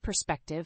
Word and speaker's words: perspective: fourth word is perspective the word perspective has three syllables with the stress on the second syllable perspective is a noun